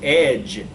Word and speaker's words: edge: okay geez edge egg edge is spelled with the G but it has the jaw just sound so it's the J its edge EJ okay okay now you